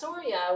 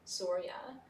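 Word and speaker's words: Surya: which is the sun the god of the sun is s-u-r-y-a sorya a lot of words in sanskrit in the english spelling are actually phonetic where they're spelled like they sound chandra for example which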